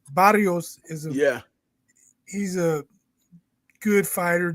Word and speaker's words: Barrios: Barrios is he's a good fighter, decent fighter.